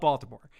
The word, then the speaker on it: Baltimore: wire it's truly about bottoma I'm sorry I'm sorry to anyone from uh from Maryland that I'm for that horrible pronunciation it's true it's about Baltimore and yes McNulty is